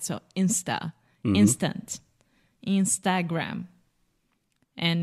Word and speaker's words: Instagram: insta instant Instagram and in English we close a mouth when we say gram right mhm Instagram what I love you so much is that wrong that was perfect okay absolutely perfect the happiest moment in a teacher's life is when the student becomes the teacher yes close your mouth with the final M and there is no sh just Instagram Instagram excellent and Facebook ah